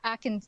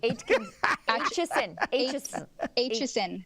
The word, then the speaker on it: Aitchison: But Atkins, I always mispronounce his name. Atkinson? Me too. Aitchison. Thank you.